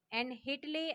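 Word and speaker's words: Whitley: And Hitley आयोग, W silent रहता है.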